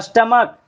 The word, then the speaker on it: stomach: जैसे स्टमक, STOMACH, तो CH को यहाँ का बोल रहे हैं, तो सिर्फ S लगाकर प्लूरल हो जाएगा।